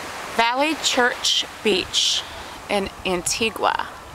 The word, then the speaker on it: Antigua: valley church beach in antigua or the proper way to say it is antigua on a cloudy day